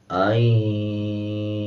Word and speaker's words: أَن: دیتے ہیں، حالانکہ یہ نون کو ان نہیں پڑھا جائے گا، بلکہ اس کو یوں پڑھا جائے گا، إِلَّا أَن يَشَاءَ اللَّهُ۔ ناک میں آواز کو چھپا کے پڑھیں گے، این، اور